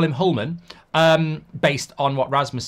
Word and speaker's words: Hjulmand: going to call him hullman um based on what Rasmus said is that that you don't pronounce the d at the end but that might just